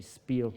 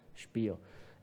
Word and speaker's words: Spiel: As you can see down here, for example, the first task was to learn the English voices, the proper German pronunciation of Spiel, not to say Spiel, but Spiel.